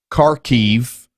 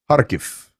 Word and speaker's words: Kharkiv: It's not Kharkiv, it's Kharkiv.